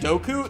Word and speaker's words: Dooku: saying the name's wrong who said doku that's how Lucas says it in interviews that's how George Lucas pronounces it never once corrected